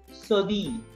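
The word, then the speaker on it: cédille: This is called the name of this sign is Sodi. Double L is silent.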